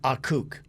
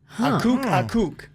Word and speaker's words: Akok: A-K-O-K, but it's pronounced Akuk. Akuk is his name.